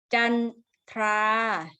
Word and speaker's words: จันทรา: ด้วย นะ เด็ก ๆ ยก เว้น คำ บาง คำ ออก เสียง ควบ กล้ำ เช่น จันทรา นะ คะ นี้ ควบ กล้ำ แท้ นะ คะ กัน ถ้า